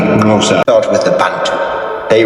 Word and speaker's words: Xhosa: Hence, Xhosa is usually pronounced something like Xhosa.